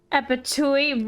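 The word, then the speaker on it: Abattouy: Abatui rhymes with Fatui.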